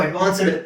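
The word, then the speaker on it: advanced: ನಿಮಗೆ 100% ಪ್ರೊನೌನ್ಸಿಯೇಷನ್ ಸಿಗುತ್ತೆ ಇಲ್ಲಿ ಟಿ ಕೊಟ್ಟಿದ್ದಾರೆ ಟಿ ಟಿ ಅನ್ನೋ ಉಚ್ಚಾರಣ ಇದೆ ನಾವು ಅಡ್ವಾನ್ಸ್ಡ್ ಅಂತ ಹೇಳಬಾರದು ಅಡ್ವಾನ್ಸ್ಡ್ ಟಿ ಹಾಕ್ಬೇಕು ಅಲ್ಲಿ ಓಕೆ ಸೊ ಇದು ಅಡ್ವಾನ್ಸ್ಡ್ ನಾನು ಹಾಗೆ ಕನ್ನಡದಲ್ಲಿ ಹಾಕಿದ್ದೀನಿ ನೋಡಿ ಅಡ್ವಾನ್ಸ್ಡ್ ಅಡ್ವಾನ್ಸ್ಡ್ ಟಿ ಹಾಕ್ಬೇಕು ಅಡ್ವಾನ್ಸ್ಡ್ ಅಂತ ಬರಲ್ಲ ಓಕೆ ನೆಕ್ಸ್ಟ್ ನೋಡಿ ಅಡ್ವಾಂಟೇಜ್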